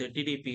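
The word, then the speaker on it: junta: दूसरा म्यांमार भी है, उसमें देखते हैं आप, जुनता हुंटा है, जे को एच प्रोनाउंस किया जाता है लिखने में, हुंटा, उनका भी डिक्टेटरशिप चालू है उसमें।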